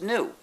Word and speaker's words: gnu: Well, because according to the dictionary, the G is silent and it's pronounced new.